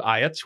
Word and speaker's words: Iatt's: And that is how you say it, Iatt's. Iatt's is how he called it. His name was Dick Iatt, and he called it Iatt's.